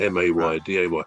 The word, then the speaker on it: Mayday: M A Y D A Y. It's actually from the French.